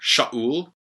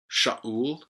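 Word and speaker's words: שאול: Saul, Shaul, Shaul. It's a sheen. The kametz, the aleph is silent, and then a shurik and a lamed, Shaul.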